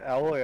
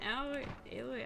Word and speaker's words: Aloy: Get Alloy out of here. Get Aloy out of here.